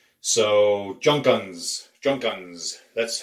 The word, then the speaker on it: Junkunc: in Hungary the surname for what we were pronouncing as junk ankh the surname was spelled je u NK u in C Z + cz in Hungarian is pronounced like the S and it's so Junkins junk guns that's how it would be pronounced or typically